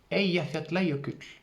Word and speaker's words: Eyjafjallajökull: il ya quelques années le eyjafjallajökull oui j'ai prononcé sa à l'islandaise et je me la